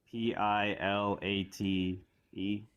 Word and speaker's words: Pilate: p i l a t e is that Yeah, man.